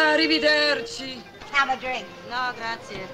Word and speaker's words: arrivederci: Arrivederci! Arriva... How do you pronounce that?